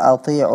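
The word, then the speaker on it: أطيعوا: Ya, ati'u Allah wa ati'u Rasul. Ya, kata ati'u di sana kedengarannya huruf ain kurang jelas, sehingga lebih dekat kepada hamzah. Yeah.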